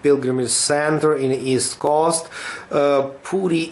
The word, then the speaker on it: Puri: center in his cost pootie is the way how Indians pronounce the name of this very important holy city and in English sometimes people pronounce it as a Puri does map okay this